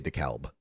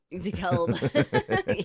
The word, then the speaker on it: DeKalb: Well, in the Midwest, we say DeKalb. DeKalb. Yeah, that would be it. Yeah. Why would the L be silent?